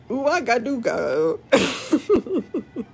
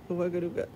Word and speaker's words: Ouagadougou: Also, the real inspiration for the name, Igwigikak, is the capital of a country named Burkina Faso, named Ouagadougou.